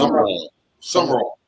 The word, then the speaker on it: Sumrall: Am I pronouncing that right? Sell. summer roll.